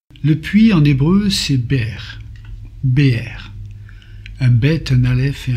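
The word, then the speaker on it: באר: Le puits en hébreu c'est Be'er, un bet, un aleph et un resh. Cela signifie le puits, la source.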